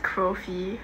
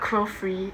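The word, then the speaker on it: Chrofee: Okay, it's pronounced crow fee. Like crow and fee. contrary to what a lot of people think, there's no second R in Crofee. It's just C-H-R-O-F-E-E-E. So it's not Crofree, it's just Crofee. Like, a lot of people pronounce it as Crofree.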